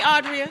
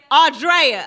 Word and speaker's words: Audria: Did I say that right, Audria? Did you say it right? Audrea.